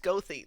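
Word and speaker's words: Goethe: It's pronounced Gothy. They have a G O E T H E. We're going to say all those letters.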